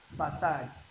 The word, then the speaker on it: facade: The first one is what pronounced was facade, facade, facade.